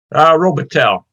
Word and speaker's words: Robitaille: You pronounced the Tail or tie? Robitaille. More Okay. of the New York's pronunciation than the French pronunciation.